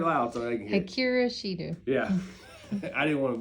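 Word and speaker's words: Akira Shida: Akira Shido. Say it loud so they can hear. Akira Shido.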